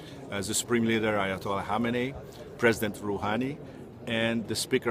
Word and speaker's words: Khamenei: What you see there is the supreme leader, spiritual leader of the country, Khamenei. It looks like Khamenei, but it's actually pronounced Khamenei, I found.